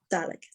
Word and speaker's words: Dalek: Dalek. It's spelled Dalek, but it's Dalek.